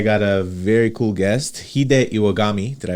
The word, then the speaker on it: Hide Iwagami: and today I got a very cool guest hide iwagami did I pronounce that right yes sir all right and